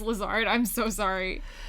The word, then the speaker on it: Lazard: Is your last name pronounced Lazard? I'm so sorry. It's a lot of people pronounce it lizard lazard.